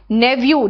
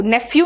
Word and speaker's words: nephew: नेव्यू, नेफ्यू नहीं बोलते हैं, इसका प्रोनाउंसिएशन नेव्यू होता है।